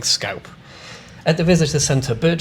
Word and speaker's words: scaup: And yeah, I know, it's meant to be pronounced scarp, but I just can't stop myself from saying scaup.